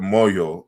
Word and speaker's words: moyo: heart in the word moyo as it is pronounced uh in the kikongo language uh is in chinuba with the is the m is rounded uh with the labial w and so then but